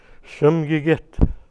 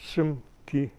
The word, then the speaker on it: Simoogit: No, it's actually 3 syllables. Simoogit. In other words, 3 separate words there. The SM in this word means important or high ranked. High ranked, it doesn't mean chief or it's high ranked. The last syllable git meaning a person. And the G in the middle, the GI, is a shortened form of git. So you're actually repeating the word person twice.